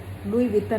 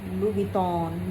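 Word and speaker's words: Louis Vuitton: और कई लोग उस ब्रांड को लुई विटन कहते हैं, लुई विटॉन, लुई विटन, लुई विटन, double T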